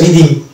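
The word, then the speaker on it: rhythm: অনুরূপ শব্দ হচ্ছে এটা রিদিম, এখানে এইচ সাইলেন্ট থাকছে, এবং রাইনোসেরাস এখানেও এইচ কে আমরা সাইলেন্ট পাচ্ছি।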